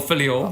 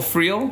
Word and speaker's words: Friel: Joel Philio. Oh, sorry. Joel Philio. No, it's close. It's close. Sorry. It's close. Your pronunciation. No, it's Joel Friel.